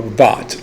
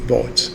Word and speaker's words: Vought: I believe it's pronounced Vogt or Vought, like thought, Vought, Vougth.